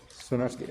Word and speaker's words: Swiarski: Is that pronouncing it right? Yes. Okay. Swiarski. And here, I found mine.